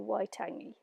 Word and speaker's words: Waitangi: of Waitangi or in married to charity Oh Waitangi and I hope I didn't butcher that too hard but um that's how it's pronounced and so the Treaty of Waitangi or